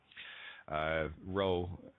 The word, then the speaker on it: Rho: Rho, and it's pronounced Rho. You got to roll that R.